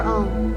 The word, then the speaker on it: Aum: The meaning of Aum, Amen, Amin, the holy cosmic sound of Aum, or Amen is the witness of the manifested divine presence in all creation. Aum or Aum, pronounced A-U, is a sacred sound considered